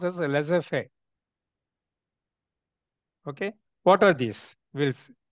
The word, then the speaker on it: laissez-faire: They say it is not, you have to pronounce as laissez-faire.